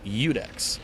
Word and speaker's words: iudex: So, like, in Latin, the word judge is iudex, and it's spelled I-U-D-E-X, okay? Iudex. That's how you spell it. That's how you say it, iudex.